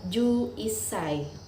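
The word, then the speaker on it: 十一歳: dan umur adalah size tetapi disini tetap mengikuti aturan pelafalan umur Ice dan CY tidak dibacain kisah itu tapi isai sehingga umur11 tahun dibaca jussai Bagaimana jika umur 12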